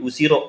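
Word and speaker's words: 後ろ: Karena ketika kanji belakang ini itu ditambah dengan hiragana D setelah kanjinya, itu tidak dibaca usiro minasang.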